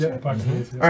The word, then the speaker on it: Hippocrates: Hippocrates, right? Yeah. I think is how you say Yeah, it. Hippocrates, yeah.